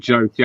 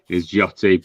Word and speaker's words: Jyoti: So I pronounce it Jyoti. I know the proper kind of Indian pronunciation is Jyoti, but you know, kind of in a kind of anglicised way.